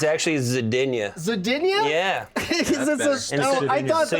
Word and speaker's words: Zidinia: Did I pronounce that right? Zidinia? It's actually Zidinia.